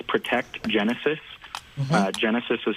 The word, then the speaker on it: Genasys: It's Protect Genesis. Genesis is spelled a little funky.